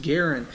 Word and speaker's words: Garand: say garand it's not a Capri and it's pronounced Garen everybody calls it grin we're just going to